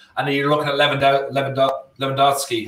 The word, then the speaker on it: Lewandowski: And then you're looking at Lewandowski. How do you say his name? Robert Lewandowski.